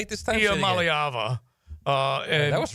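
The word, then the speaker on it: Iamaleava: Malyava. Uh, and that was right, actually. That's the correct That's the correct pronunciation.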